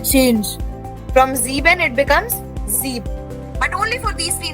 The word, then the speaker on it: sieb: The spelling of Zeben becomes Zeeb. S-I-E-B, Zeeb.